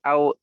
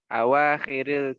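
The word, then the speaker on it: أواخر: Iqra waktub ma'adabti au Ayo, akhiril kalimati. ulang. Kalimati. Ulang. Yang betul bacanya. Iqra waktub ma'adabti au akhiril kalimati. Awahiril, bukan dibaca au. Awahiril kalimati. Awakhiril kalimati.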